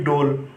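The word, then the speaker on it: ڈول: आवाज़ भी निकालती है, जैसे कि डोल, डाल वाव लाम डोल।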